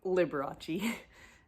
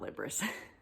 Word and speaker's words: Liberace: This is Liberace, I'm assuming is how this is pronounced. Liberace. Liberace. Liberace. Yeah, so that's Liberace, not Liberace.